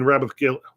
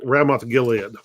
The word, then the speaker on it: Ramoth Gilead: they're trying to regain rabbith Gil what's the name I mispronounce the name hang on they're trying to to retake ramoth Gilead which was an Israelite